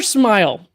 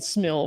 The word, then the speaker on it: SMIL: Is it smell or smile? Smile. All right. I was saying smell for the longest time. I just decided I'm gonna spell it out. Locals call it smile.